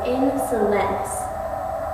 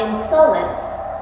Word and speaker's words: insolence: figure out the meter when you say insulin you accent the first and last syllables it goes insolence not insolence insolence so accent un accent